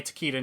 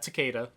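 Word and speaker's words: Takeda: kung kung Jin teita apparently tequita not teada which was odd damn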